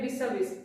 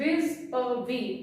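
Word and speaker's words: vis-à-vis: हाँ मैं प्रोनाउंसिएशन लिखती, कई बच्चे कहते हैं विस-अ-विस, इट इज नॉट विस-अ-विस, इट इज विज़-अ-वी, जिसका मतलब होता है नालों।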